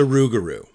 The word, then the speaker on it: Rougarou: title of this is it's spelled r o u x like a rue, you know, like you make a rue, you know, with to make gumbo. Um, so it's a rugaroo because the the rugaroo is making a rue.